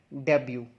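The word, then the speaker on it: debut: इसकी प्रोनाउंसिएशन है डेब्यू।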